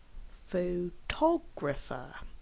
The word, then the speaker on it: photographer: the first syllable photograph photographer has four syllables and we actually stress on the second syllable photographer photographic has four syllables